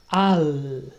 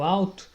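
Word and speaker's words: עַל: Al. O L em hebraico se pronuncia como no espanhol. Você dobra a língua para o alto e faz essa sonoridade do L.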